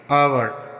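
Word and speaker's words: hour: For example honest, यहाँ पर ओ से पहले एच आया है तो यहाँ पर एच का उच्चारण नहीं होगा, इसको हम ऑनेस्ट पढ़ेंगे। आवर, यहाँ पर भी ओ से पहले एच आया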